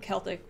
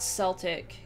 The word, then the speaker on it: Celtic: He or she says, Celtic is pronounced with a hard C, so Celtic with like a K, linguistic ethnic group, so not Celtic, that's the football team.